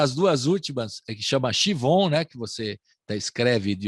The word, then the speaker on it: Siobhan: Se escreve Siobhan, né? Mas se diz Chivon.